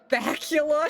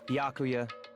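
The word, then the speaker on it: Byakuya: you're all so annoying bacula she didn't even say his name right she stuttered it's yakuya she knows that i'm sorry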